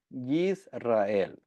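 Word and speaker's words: ישראל: Entonces, el nombre Israel viene del hebreo Yisrael. Amén. So, así es como se dice y se escribe en hebreo, Yisrael.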